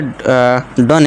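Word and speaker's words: done: ये डन है।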